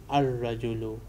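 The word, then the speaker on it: الرجل: In those words, we are pronouncing alif, but in haruf shamsiya, lam becomes silent. So we read an-najmu. We write al-najmu, but we pronounce an-najmu. We pronounce ar-rajulu.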